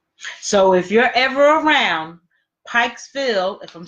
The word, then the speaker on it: Pikesville: So if you're ever around Pikesville, if I'm saying it right, you said Pikesville, Maryland.